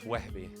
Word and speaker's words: Wehbe: Now, wait, before we move on, do I pronounce your name Wehbe or Wehbe? Because in the book it was Wehbe, but I have two Palestinian friends who was like, yo, bro, it's Wehbe. It's Wehbe. That's how you say it.